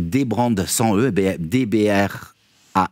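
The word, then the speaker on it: dbrand: animations sont sont folles ça s'appelle donc ça s'écrit débrandes sans eux DBR a n D et c'est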